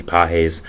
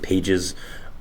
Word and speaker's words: Pages: was the Dodgers' Andy Pages. I did pronounce it Pages, which was completely my fault. I did not know it was Pages, but I do know